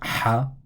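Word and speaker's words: ح: colored in purple and let's say this letter is pronounced ha this letter is pronounced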